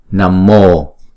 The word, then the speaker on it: nam mô: ha cái chữ năm Nếu mà đứng một mình thì chúng ta đọc là 5 nhưng mà theo sau nó là chữ p thì chúng ta đọc là nam mô Nam Mô Phật thì